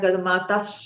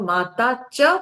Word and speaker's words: माता च: पिता तमेव ठीक है बहुत लोग इसको गाते गाते ना गलत उच्चारण माता श कर देते हैं माता श नहीं होगा माता शब्द में विसर्ग है नहीं तो इसलिए तमेव माता च पिता तमेव ठीक है